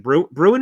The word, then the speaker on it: Bruen: Bruin, is it? That's how it's pronounced?